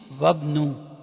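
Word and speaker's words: وابنُ: And we are pronouncing it Wabnu. And this Wabnu, not Y, Ibnu, is again Mubtada wa huwa Mudaf.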